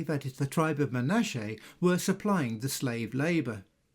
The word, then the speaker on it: Manasseh: Manuetis was the tribe of Manasse pronounced Manache in the Hebrew tongue.